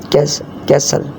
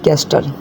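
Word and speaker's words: castle: अपोसल, ब्रिसल, बसल, बच्चर, कैसल, ठीक है, ना कि कैस्टल, ठीक है, किले को कहते हैं ना कैसल।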